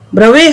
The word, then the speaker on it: Bravais: In 2 dimensions, there are 5 Bravais lattices, whereas in 3 dimensions, there are 14 Bravais lattices as discussed just now.